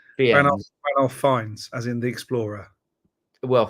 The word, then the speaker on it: Fiennes: It's Ranulph Fines, as in the Explorer.